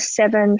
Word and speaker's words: Seven: oh so seven how how would you pronounce it I was like just as the number seven they're like oh okay